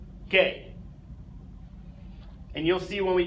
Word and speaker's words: G: letter for some reason the letter G is pronounced gay yes hahhaa funny funny we know right so the letter G pronounced gay and you'll see when